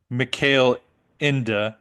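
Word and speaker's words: Michael Ende: I think Um cuz it looks like Michael end but it to me but Oh end yeah it's male inda inda I like it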